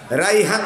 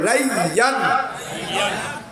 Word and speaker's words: রাইয়ান: একবার বলেন তো উচ্চারণ করে, রাইহান লয়, রাইয়ান।